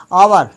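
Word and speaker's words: hour: होगा और यहां पर एच ये साइलेंट है। यहां पर बोला जाएगा आवर।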